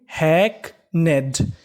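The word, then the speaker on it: hackneyed: NE इसे पढ़ेंगे ने, और यहाँ पे जो Y लिखा है Y हमारा साइलेंट है, Y का यहाँ पे उच्चारण नहीं करना। और आखिरी में लिखा है ED, ED को हम लोग पढ़ते हैं डा, यानी आपको इंग्लिश में कहीं पर ED लिखा मिले तो आपको ED का उच्चारण करना है डा, तो मीनिंग बनी हैकनेड।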